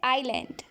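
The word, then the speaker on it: island: द्वीप को हम आइलैंड कहेंगे, यहाँ पर एस जो है वो साइलेंट है, ठीक है। आइलैंड।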